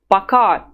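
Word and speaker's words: пока: well they're friends of yours you would say baka baka try to say it several times at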